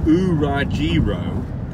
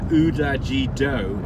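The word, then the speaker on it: 裏白: Leslie Anderson, so we're talking about you're a hero, and she says that she says the pronunciation is Urajiro, pronounced in English, and Udajido in Japanese.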